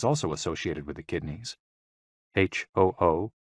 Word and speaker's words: hu: associated with the kidneys h-o-o pronounced like who which is associated with